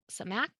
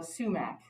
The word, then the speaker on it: sumac: and then they asked is it called samak not sure if i'm pronouncing that correctly oh uh sumac um i didn't use sumac in tonight's recipe uh sumac is spelled s-u-m-a-c uh it's also something